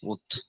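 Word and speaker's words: août: দাঁড়ান এটা হচ্ছে না ভাইয়া ভুলে গেছি উচ্চারণ এই যে উথ উথ উত উথ হ্যা রাইট উথ এটুতে ডেইজের নাম আর হচ্ছে আপনার মান্থসের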